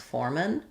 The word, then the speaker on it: foreman: We have letters F-O-R-E say the same as the number 4 or the And so we have the first syllable stress with the or diphthong, and then the foreman, the foreman, the foreman. I think we don't use a clear a here, not the foreman, but the foreman, mun.